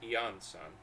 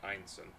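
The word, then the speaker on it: Iansan: collective of plenty ah so that's how that's pronounced yanson I've been saying einen with an explosive comeback 10 years in the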